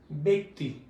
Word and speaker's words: ব্যক্তি: আমি আবার বলছি, জ ফলাযুক্ত বর্ণের পর যদি ই কার থাকে, তাহলে উচ্চারণ হয়ে যাবে এ। আমরা এটাকে উচ্চারণ করব হলো ব্যক্তি।